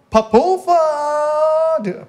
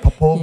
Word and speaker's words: Popova: The one and only, give it up for Anna Popova. Did I say it right? Popova?